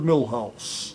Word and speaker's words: Milhous: me needed this is Millhouse that rhymes with white house and that's where I'm